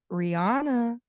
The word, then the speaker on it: Rihanna: Rihanna, which I actually found out is Rihanna. And someone like from Florida was like Rihanna, and I was like, say her name correctly. And then there's an interview of her on Ellen, and Ellen straight up is like, is it Rihanna or Rihanna? And she's like, technically it's Rihanna, but I think with